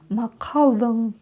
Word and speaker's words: Мақалдың: Кончиком языка тянемся к верхнему небу и, не дотягиваясь до него, произносим букву N. И у нас получается звук Макалдың.